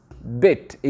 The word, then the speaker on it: bite: Bit. Et ici, je te donne, ça donne quoi? Tu prononces la lettre I entièrement, ça donne bite.